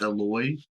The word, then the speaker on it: Eloy: I think his name's it's pronounced Eloy it's e l y but his last name